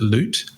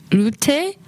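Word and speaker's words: Loubté: name correctly because I'm I think there's a silent P, but I could be wrong. Is it Loot? No, I think Well, this is the thing. I speak French, but and so I've made assumptions about how to pronounce her last name. I think it's m like lute.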